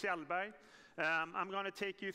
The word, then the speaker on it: Kjellberg: Jonas Kjellberg, and I said, can I say Kjellberg, or how do you say it in Swedish? He said, in Swedish you say, Kjellberg.